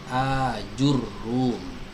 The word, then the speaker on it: Ajurrum: ajurum Hai ajurum ini cara membacanya adalah by fathil hamzatul mamdudah dengan empat Hah kan huruf hamzah mamdudah yang dipanjangkan jadi hanya Ini mesti dibaca fathah dan panjang ayat4 hakan huruf hamzah hal mamdudah yang dipanjangkan Hai Wagon wheel game Where ilmu sajadah dan menjelma kan huruf Jim Aju itu ya gamenya dirumahkan dan mentasydidkan huruf ro hajur room Hai begitu cara membacanya ya jadi beliau dikenal